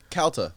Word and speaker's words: Calta: the show or whatever how do you say it calta count like california yeah so they said mike